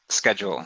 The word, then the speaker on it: schedule: one i'm sorry is schedule so it's like pronounced with like a k uh why it's greek